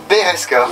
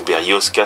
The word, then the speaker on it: Berezka: Donc aujourd'hui, tu es habillé en Beresca. Bereska ou Berosca, selon comment on prononce et selon le camouflage qui a dessus.